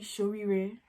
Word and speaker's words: Shoriree: It's actually Shorire. That's actually how you say it. Shorire or Shorire. There's two ways to say it.